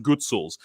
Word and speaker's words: Hutsul: And I'm talking about the Hutsuls. Okay, the Hutsuls are like as Ukrainian as Ukrainians can get. Arguably, or sometimes it's pronounced Gutsuls.